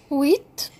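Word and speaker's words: huit: طبعا البي هنا يا ولاد مش بتتنطق، نخلي بالنا، اسمها ست set set wheat wheat القش صامتة فبنقول wheat ال e e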